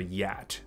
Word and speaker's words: yacht: 所以这个字句念作 yacht。